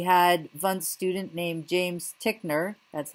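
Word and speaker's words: Titchener: In the U.S., we had Wundt's student named James Tickner, that's how you pronounce his name, who became one of the earliest professors of psychology at Cornell.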